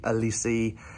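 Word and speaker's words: Olise: Anderson, Gerhi, Olisi, that's how you pronounce it, to name a few.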